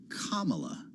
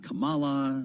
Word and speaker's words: Kamala: the economy and many other things he actually pronounced her name right he said Kamala not Kamala not kambla not any of the other things